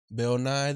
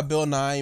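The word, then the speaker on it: Bill Nighy: But it's because it's spelled differently, but it's pronounced the same.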